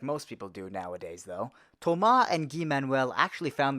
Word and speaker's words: Thomas: from France and yes their names do sound awesome because that's how you pronounce them in French especially Tomah in English we call it Thomas but here it's Tomah born in the mid